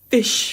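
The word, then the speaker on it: ghoti: Essentially, the gh is from the word enough as in how it's pronounced in enough, you know, tough and all that.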